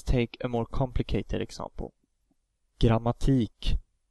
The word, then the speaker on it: Grammatik: Grammatik. The first A is followed by two M, so that vowel is of course short. Grammatik.